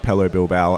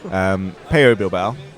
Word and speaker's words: Pello Bilbao: One of the nice things about Pello Bilbao, I'm sure that I'll slip up and pronounce it Pello Bilbao again, but Dane will be furious because he speaks very good Spanish and I don't speak any. Pello Bilbao.